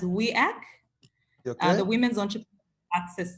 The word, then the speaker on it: WEAC: work okay so uh it's pronounced as we act as the women's entry